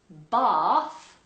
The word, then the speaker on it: bath: So, for example, in the word bath, Northerners would say bath and Americans would say Bath. so if you're Northern English, this is going to be an easy change for you.